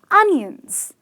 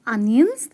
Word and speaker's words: onion: cry or are they un-nions well I must tell you there is a letter although there is a "O" in the spelling these are onions as in the pronunciations goes un-nion and these are from